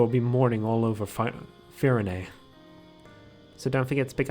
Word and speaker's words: Firene: Still weird to me that that's pronounced Firene.